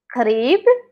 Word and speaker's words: qrib: So qrib again with the number of nine is like remember it's the qaf sound. qrib So min hna is from here.